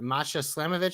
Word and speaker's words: Masha Slamovic: JC Jane versus I can't Masha Slamovic.